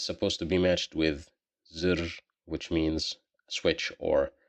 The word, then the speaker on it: زر: زر, here we pronounced it as z because of the kasra, zir.